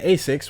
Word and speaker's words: ASICS: At the end of the day, you just judged them on how they dress for wearing Asics, which rhymes with basics.